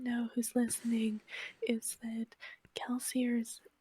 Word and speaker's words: Kelsier: for context, in case anyone doesn't know who's listening, is that Kelsier's name was originally supposed to be pronounced Kelsié, as Brandon has said, because it's supposed to be French, but absolutely no one